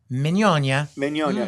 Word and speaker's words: Mignogna: nice of you because nobody says that pronounces it that way unless you're in evilly yes the right way if you're in the old country yes it's a Vittorio manyanya does that mean give